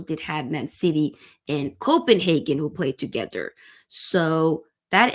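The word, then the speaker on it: København: Ørjan Nussi, another Norwegian, scored the goal for Copenhagen, or technically it's called Copenhagen, the Danish pronunciation.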